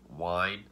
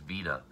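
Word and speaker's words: Wiene: of dr caligari i think i called him wine i've heard wine weed but then i've actually heard that his uh is actually pronounced vena which if i would have considered his german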